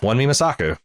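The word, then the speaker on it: Wunmi Mosaku: Let's see here if these pronunciation sites can get it done. Yeah, Wan Mi Mosaku.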